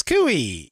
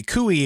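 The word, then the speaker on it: Coie: is lawyered up and Perkins kui is representing him and by the way kui is spelled c-o-i-e um so Perkins kui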